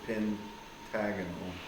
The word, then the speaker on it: pentagonal: the AL but then you pronounce it differently instead of Pentagon it's pentagonal pyramid so you name the